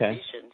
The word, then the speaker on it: Vishen: I watched his video with Jimmy Quick and he called himself Vishen, so I don't know.